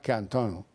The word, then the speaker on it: Quentin: la derecha radical, que se llamaba Canton. Como Tarantino, sí, pero pronunciado a la francesa.